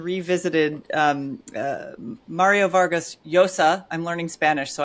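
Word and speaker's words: Llosa: um uh Mario Vargas Yosa. I'm learning Spanish so I get to pronounce the double L's as a Y today even though usually I would say lossa like I say burrito not burrito.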